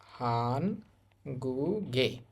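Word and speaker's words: 한국의: এই অংশটার উচ্চারণ হবে এ শব্দটার উচ্চারণ হবে হান গুগে হানগুগে অর্থ হচ্ছে কোরিয়ার ইনসা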